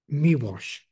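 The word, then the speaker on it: Miłosz: Polish uh poet um miash um uh is his surname that's how it's pronounced uh Jes miw it's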